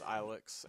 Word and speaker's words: Ilex: to be going through Ilex Forest. Or Elix Forest, whichever you pronounce it as. I don't care. I pronounce it as Ilex, and we're not going